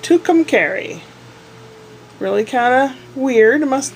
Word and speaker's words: Tucumcari: come carry New Mexico apparently that's how it's pronounced Tucumcari really kind of weird must mean something in